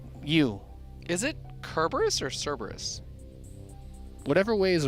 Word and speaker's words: Cerberus: Because I'm looking at the name, and I think it's Cerberus. Yeah, it's fun to say Kerberos though.